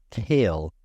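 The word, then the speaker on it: Kailh: good middle ground is I don't actually know how to pronounce it I've never pronounced now it out loud it's kale k a i l h a kale button so there're a button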